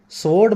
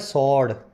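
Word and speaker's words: sword: वर्ड जो है स्वर्ड इसमें डब्लू साइलेंट होता है स्वर्ड मत बोलना इसको तलवार को सड बोलते होगे आप शायद हिंदी मीडियम वाले यही बोलते हैं मैं भी बोलता था लेकिन इसको सही अगर बोलना हो तो बोला जाता है सड यह डब्लू बीच में साइलेंट है इंटरप्रिटेशन यानी एक्सप्लेनेशन कॉन्फ्लेटिंग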